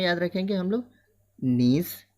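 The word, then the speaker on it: gneiss: नीस, जी silent है इसमें, नीश पहला मेटामॉर्फिक रॉक्स में।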